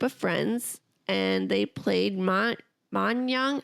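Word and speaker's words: mahjong: Her father asked her to join this group of friends and they played ma manang. How do you say it? Maang Mang. Yes, ma Jang.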